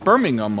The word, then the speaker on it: Birmingham: They pronounce it Birmingham over there in Birmingham.